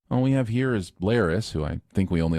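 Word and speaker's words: Larys: we have here is Lis who I think we only like because his name rhymes with Varys and a selection of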